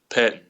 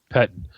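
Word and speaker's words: Pettine: Is that how you pronounce Patine or Pettin? Pettin. Pettin. When you had Coach Pettin.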